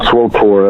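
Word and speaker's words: SWTOR: SWOTOR, that's how we pronounce it.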